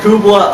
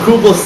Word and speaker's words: Kublai: And Kublai, I don't know what the fuck I was smoking, but you're gonna be named Kublai. Because it rhymes with hoopla.